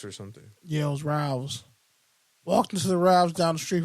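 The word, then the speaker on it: Ralphs: There's a P. There's not a V. Ralph's. You're saying Ralph's. Ralph. The P is silent. What the fuck are you talking about? You're saying it with a V.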